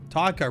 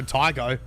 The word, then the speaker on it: Tycho: I personally, one word, 2 syllables, rhymes with psycho.